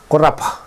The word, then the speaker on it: korapa: Singular, korapa. Korapa. And thank you, korapa. Korapa. Plural, kamrapa. Kamrapa. Ko, singular. Kam, plural.